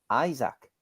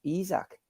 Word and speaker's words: Isak: with izakim which he introduced to himself as Alexander Isaac and not isak surely he would have